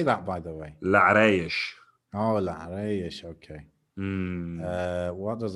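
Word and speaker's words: Larache: Larash.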